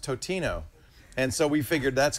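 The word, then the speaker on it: Totino's: We for a while we begged for we begged for Tostino's pizza rolls to do ads, and then I found out it's pronounced Totino, and so we figured that's going to be it, right?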